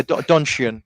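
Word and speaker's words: Donchian: How do you pronounce it? Yeah, donian.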